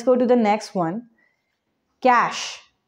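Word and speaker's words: cache: skin okay let's go to the next one cash it's not the money cash it's the computer's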